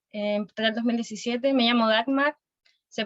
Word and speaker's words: Dagmar: Yo estoy en último año, entré en 2017, me llamo Dagmar, se pronuncia así, Dagmar.